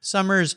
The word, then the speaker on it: Somer: I'll put it on Summer's show notes page here on the Cars Yeah website.